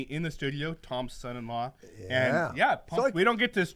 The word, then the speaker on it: Ye: All right, so first up is Kanye, or Ye. Did I say that right, guys? Yeah, yay. That's how you pronounce it.